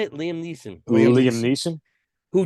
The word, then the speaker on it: Liam Neeson: of them are good like even that Liam Liam Neil Nielsen guy he's great but it's either amazing Liam how you say it Liam Neeson are you Liam Neeson who does look like